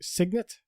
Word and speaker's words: Signet: I think I'm pronouncing it Signet. Signet, nice, well done, yeah.